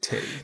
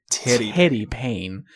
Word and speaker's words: Teddy Payne: The way that you pronounce it sounds like titty. Titty. No. Teddy Payne.